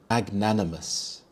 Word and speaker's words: magnanimous: Magnanimous. Magnanimous. The stress is on the second syllable. Nan magnanimous.